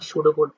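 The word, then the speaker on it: pseudo code: কোডের সংজ্ঞা পি এস ইউ ডি ইউ এটা উচ্চারণ হবে না সুডো কোড বাংলায় বলা হয় সুডো কোড উচ্চারণটা সুডো কোড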